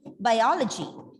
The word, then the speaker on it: biology: Okay, biology. Biology. Obviously, this is the third last syllable.